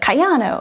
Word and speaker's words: Kayano: I think it's like Kayano, that's how you're supposed to say her name.